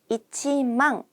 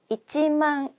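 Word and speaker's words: 一万: 그래서 만이라고 표현 을합니다 그냥 마엔이라고 안 하고요 일만엔이라고 얘기를 하거든요 그래서 이치망 간다는 거 이치망 앵 이렇게 얘기를 하겠죠 그다음에 니망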